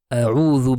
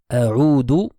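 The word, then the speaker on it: أعوذ: A'udhu sera faux. A'udhu veut dire je reviens. A'udhu avec le zal veut dire je cherche refuge. Je me place sous la protection. Donc ça, c'est une erreur courante, le fait de changer le zal en un dal.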